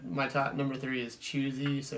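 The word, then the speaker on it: Chwazi: it for everyone because it's like in French it's like the French word for choose the Hwa Zi there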